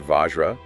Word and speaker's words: vajra: The Sanskrit word Vajra, pronounced Vajra, means both diamond Okay, the gemstone.